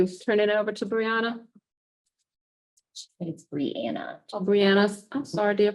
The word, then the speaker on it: Breanna: Let's turn it over to Breanna. BREANNA GRANT: It’s Breanna. BELINDA PETTIFORD: Thanks Breanna, oh I'm sorry for mispronouncing your name, I should know that.